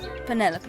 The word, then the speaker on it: Penelope: delightful penny pointer pleasure is that short for penelope officially yes but i never can be bothered with all four syllables of it penelope sounds a little ostentatious